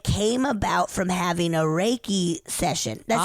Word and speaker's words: Reiki: Okay, my second story isn't a ghost story, but it came about from having a Reiki session. That's how you say it, right? Reiki.